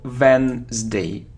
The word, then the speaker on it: Wednesday: Veterans Day Veterans Day now we don't pronounce it so Wednesday Wednesday it isn't cues muse